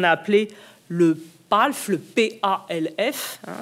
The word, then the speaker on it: PALF: appelé le PALF, le P-A-L-F, hein, c'est un acronyme, on peut après tout le prononcer, le PALF, qui est cette idée